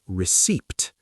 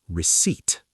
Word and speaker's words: receipt: But listen carefully, the letter P is completely silent. We do not say receipt. We say receipt.